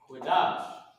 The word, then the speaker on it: Qadash: Qadash. Holy. Right? This is how you pronounce the word.